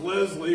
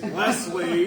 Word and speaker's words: Leslie: You know, it's not pronounced Leslie, it's Leslie, you Right, Philistine.